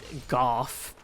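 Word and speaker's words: Gough: Apparently it's pronounced Golf.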